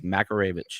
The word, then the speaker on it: Makaravich: It's Makaravich. It's not that freaking hard.